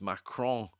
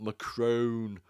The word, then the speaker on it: Macron: My French pronunciation is awful, but it's Macron, Candace Owens, not Macron, as she says 100 times when she does